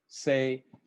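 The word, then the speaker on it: 清: The character for pure can be pronounced or read in several different ways. Mine is sei, this one is Shoujo Shin.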